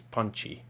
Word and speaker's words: Ponchi: I'm doing like the Spanish version is Ponchi.